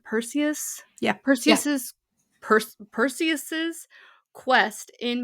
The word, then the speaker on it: Perseus: And also with the original mythology like in what what how do you pronounce his name? Perseus.